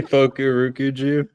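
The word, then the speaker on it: Fukurokuju: How do we pronounce it? Fuku Rokuju. It's literally Fukurukuju.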